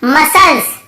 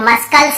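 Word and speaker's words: muscles: यहाँ पर भी देखिए मसल्स, मसल्स मसल्स, यहाँ पे मस्कल्स नहीं पढ़ रहे, यहाँ पर भी सी साइलेंट है।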